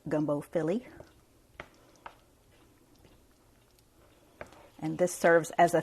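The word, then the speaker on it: filé: apostrophe added the end of it so it's pronounced gumbo Philly and this serves as a thickening agent as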